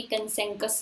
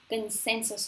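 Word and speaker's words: consensus: और कंसेंसस की स्पेलिंग ये नहीं होती, SAN भी नहीं होता, SE होता है, और ये कंसेंकस नहीं होता, कंसेंसस होता है.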